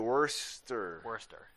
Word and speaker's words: Worcester: Worcester. It's that simple. I was like, wow, cool. Why spell it like that?